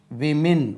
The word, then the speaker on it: women: இதனுடைய உச்சரிப்பை கொஞ்சம் கவனிக்கணும். விமின் இதுக்கு உச்சரிப்பு நான் வேணா சும்மா தமிழில் எழுதுகிறேன். விமின் விமின் விமின்ஸ் Christian college Z விமின்ஸ் Christian college. அது நம்ம உமன்ஸ் கிறிஸ்டியன் காலேஜ் சொல்லக்கூடாது. மென் விமின்.